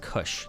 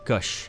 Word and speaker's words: Gush: return their ancestral homeland gush is pronounced kush gush kush okay the second point actually